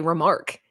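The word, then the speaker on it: remarque: only thing odd is how you say remark you say remark it's a remark like you're remarking upon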